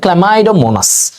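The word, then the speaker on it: Chlamydomonas: আর যারা সচল, চল, সচল, চল, চল, এই যে সিএইচএল, ক্ল্যামাইডো, এটার উচ্চারণ হচ্ছে ক্ল্যামাইডোমোনাস।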